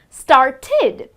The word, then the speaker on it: started: or d, but specifically the words that end with the sound of t and d, well, it should be, the correct pronunciation would be id. Like for example, started. Now start, the verb start ends with t, right? So the ending sound is t, the t sound, and therefore it should be pronounced, if you add the ed to it, then it should be pronounced as started. Okay, so this would be the correct pronunciation.